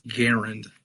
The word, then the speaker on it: Garand: as well I mean his name was Garand that's how we pronounce his name right but just the